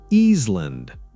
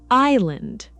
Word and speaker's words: island: Easeland. Very common mistake. The S is silent. It's island.